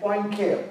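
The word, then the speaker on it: Poincaré: Now, if I don't tell how to pronounce it and ask you to pronounce, you'll probably say Poincare, right? It is actually pronounced as Poincare, like P-W-N, Poincare.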